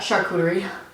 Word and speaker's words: charcuterie: cookie board so yummy we pronounced that charcuterie who made up that name i don't know but i think saying sharkuchi is so much more fun sure boo keyboard why are